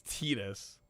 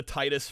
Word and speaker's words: Titus: Officially, it's Tetus. I've never heard anyone call the Titus Fox publisher Tetus. Like, not once. This is the first time I'm ever hearing that.